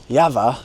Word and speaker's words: Jawa: But in front of us we have the Jawa, or as it's supposed to be pronounced, Jawa, because it's from the Czech Republic, Retro 350 two-stroke modern classic, and they still make this motorcycle today.